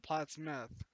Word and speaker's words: Plattsmouth: happened in the 90s people still call it plattsmouth most because that's how we pronounce it but people pronoun people over pronounce the meth part of it now now